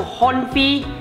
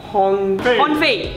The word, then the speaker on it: Honfei: Big shout out to Honfi. Bro. Honfi. Oh god, I got his name wrong.